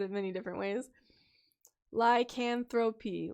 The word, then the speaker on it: lycanthropy: it many different ways lycanthropy like anthropy there we go thank you hats like